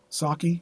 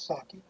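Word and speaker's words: Psaki: how what's her name how do you pronounce that Jen PS a Ki saki oh Jen yes saki saki okay if it wasn't her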